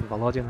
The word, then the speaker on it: Volodin: First of all, you pronounced my second name incorrectly. It's Volodin, actually.